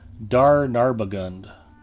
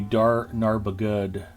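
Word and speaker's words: Dar Narbugud: Lothlorien instance, the Lothlorien instance, Dar Narbagund, or excuse me, Dar Narbagud. There's no N towards the end.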